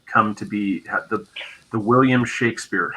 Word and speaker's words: Shakespeare: Actually, it wasn't, as we say, Shakespeare. It was actually pronounced Shakespeare. That's the way it was spelled. Shakspear. or Shakespeare, like that, where there's a short A.